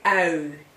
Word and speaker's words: ui: Also, ui. And I don't think you can pronounce that, but because that's really not in your language. Ui. It's U-I, if you write it, and let me give you an example, a very short word, it's ui, this is ui, onion, ui, We also have O